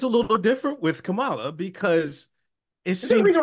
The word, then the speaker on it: Kamala: Yeah, he's not doing it on Kamala, purpose. right? Kamala, like you pronounce it K-U-M, right? Kamala. What I'm saying is the emphasis on the first syllable, not the second.